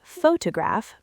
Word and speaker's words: photograph: For example, we say photograph, but photographer.